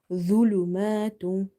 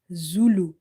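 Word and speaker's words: ظلمات: Never read it zulu, zulu. It's the. Same like zal and same like tha, you have to read it with the tip of your tongue when it touches the inner edges of your top two front teeth.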